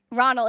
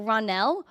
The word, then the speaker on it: Ronell: things but hi Harry Ronald it's funny because you pronounced my name wrong but it's okay because stretch out the Nell to say so ronell oh ronell not ronal ranell okay is ronell the right